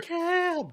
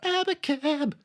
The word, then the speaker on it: Abacab: Abacab. There it is. You have to pronounce it like that, by the way. Sorry. Abacab.